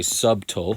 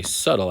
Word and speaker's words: subtle: This is a silent B in this word. We don't say subtle. We say subtle, as if the B wasn't even there.